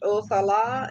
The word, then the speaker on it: Othala: And then Othila, pronounced Othala, is the rune representing the ancient lands.